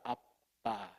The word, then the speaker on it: 아빠: 아빠. 아바가 아닙니다. 아빠. 이게 이제 개혁 계정대로 발음이 그나마 아라머에 가깝습니다.